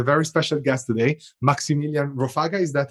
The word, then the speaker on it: Rofagha: here with a very special guest today maximilian rofaga is that how you pronounce it yes well done yeah absolutely so